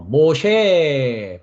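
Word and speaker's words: משה: 어 어 전 시간에 우리가 해석을 했습니다마는 어 모쉐 발음은 모입니다 한글은 이제 모세라 하고 어 영어은 모스라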